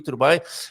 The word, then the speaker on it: Dubai: Dubai. You are absolutely right. You stressed the penultimate syllable.